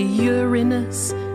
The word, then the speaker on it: Uranus: Some say Uranus. Is that better? Or does it just sound wetter?